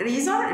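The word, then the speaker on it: eraser: بس ليها كلمتين ريزا هنا الاس متنطق هنا الاسم ما تنطقش لان هو وقع بين حرفين متحركين الاس لما تقع بين حرفين متحركين فالحاله دي حنطاز بالصوت ده زي الزيت يبقى الريزار الريزار ريزار اللي هي الاستيكه عنده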